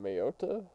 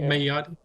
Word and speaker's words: Mayotte: Mayota? Mm, it's Mm, like it's two seahorses mm, humping a span. Mayotte.